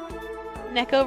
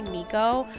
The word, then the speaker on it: Neco: little closer today Neco rhymes with gecko there you go I've been going into to chats and every time they call me Nico um I've been literally